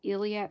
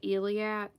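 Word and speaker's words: Eilat: There was someone that got an actual Iliad stone brooch.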